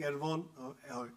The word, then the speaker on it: Erehwon: Now imagine reading Erehwon, is Erehwon, it's not H. He corrected me, H is silent, and therefore we had our morning jokes. It's Erehwon Consulting. If you read Erehwon other way around, is now here.